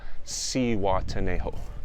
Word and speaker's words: Zihuatanejo: so i arrived here at z juan tanejo si watanejo that's how you pronounce it it's in mexico it's right by